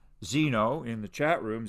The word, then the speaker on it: Zeno: So I don't mind if you pronounce him Zeno, as we would in the US, or Zeno, as we would in Canada or the UK, just like zebra and zebra, it refers to the same animal.